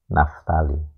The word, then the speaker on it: Naftali: Jadi kalau Naftali ya kita tulis P, walaupun bunyinya Naftali ya tidak apa-apa, tapi nulisnya kita P, Naftali.